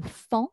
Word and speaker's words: faon: n'est pas le pan mais c'est le fond qui s'écrit f&a au n donc le faon et le bébé de